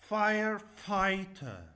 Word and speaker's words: firefighter: Firefighter.